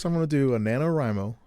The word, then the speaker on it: NaNoWriMo: the nanowrimo is that how you say it nanowrimo yep national novel writing month yep yeah i'm